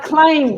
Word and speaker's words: climb: You can Climb without the B. climb. The B is silent. Be silent. Be careful of the pronunciation.